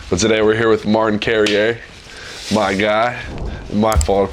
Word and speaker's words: Martin Carrere: You can try to pronounce it. Martan.